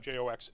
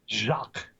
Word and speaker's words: Jacques: Cox Brian Cox Jaques it's not Jo X it's like the French Jacques book series and the